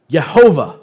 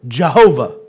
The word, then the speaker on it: Yahweh: Tetragrammaton, and it is the four-letter Hebrew name of God, which translated to English is YHWH, Yahweh. The Hebrew pronunciation of its letters would be Yehovah or Jehovah.